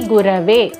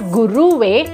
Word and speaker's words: Gurave: And the last part is Tasmai Shri Gurave, not Guruve, but Gurave. Shri Gurave Namaha. Many tend to mispronounce it as Gurave Namaha by pressing the Na of Namaha, which is wrong.